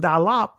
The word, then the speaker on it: daleth: then when you see door dalath right in the israeli daleth but the ancient pronunciation dalap you see here door gate